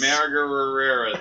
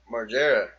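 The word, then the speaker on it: Margera: Margareras. How do you pronounce it? Marggera.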